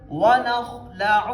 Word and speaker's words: وَنَخْلَعُ: تو یہاں پہ ہم نے پڑھنا ہے وَنَخْلَعُ، عین کی آواز نکالنی ہے درمیان گلے سے. وَنَخْلَعُ وَنَخْلَعُ وَنَتْرُكُ مَن يَفْجُرُكَ.